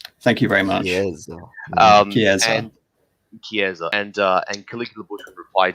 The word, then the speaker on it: chiesa: If you're making reference to an Italian church, the way to say it is chiesa, is the Italian word for church. Thank you very much. Chiesa.